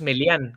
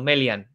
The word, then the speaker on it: Melian: melian que por cierto lo pronuncian mal porque que yo sepa no no es melian que es como dice como dice sino melian vale que bueno fue